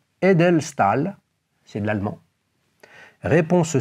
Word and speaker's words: Edelstahl: Edelstahl? Edelstahl? Ah ouais. Comme Nicolas de Staël, le peintre? Comme Nicolas. Alors, ça s'écrit pas de la même façon, mais c'est la bonne réponse.